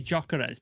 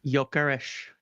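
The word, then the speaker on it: Gyökeres: how do you pronounce I say jockare but you say it a different way don't you? Yokesh. Y I'm 99% sure Yokesh is correct.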